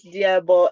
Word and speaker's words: Liabo: course uh I have liabo next hello everybody hello my name is my name is Diablo it's spelled l-i-a-b-o but it's pronounced d-i-a-b-o um I'm from South